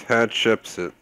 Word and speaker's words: Hatshepsut: It's Hatshepsut, according to online.